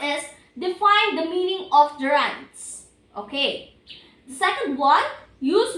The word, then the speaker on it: gerund: Okay, this is the gerunds that you said a while ago. Okay, you are right, Michael. So, this is a gerund. A gerund is pronounced ger or G-E-R and or U-N-D. Gerund.